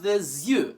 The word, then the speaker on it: des yeux: Un œil, but in a plural, it's pronounced des yeux.